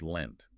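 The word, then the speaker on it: leant: And you have to note that lent is pronounced the same way as the past tense of the verb to lend as in to give temporarily.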